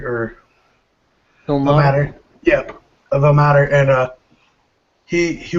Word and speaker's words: Ilmater: But he was rescued by a paladin of, I can't really pronounce it, Illimeter or Ilmater. Ilmater.